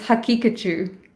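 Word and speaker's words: Haqiqatjou: actually conduct contacted daniel how do you say his last name oh it's hakikachu hakikachu okay um yeah i messaged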